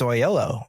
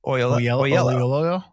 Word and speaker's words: Oyelowo: I think it's just Oyelowo. Oyelowo.